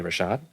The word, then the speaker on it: Rochotte: us today it's the one and only Rashad am I pronouncing that right you are I'm impressed yay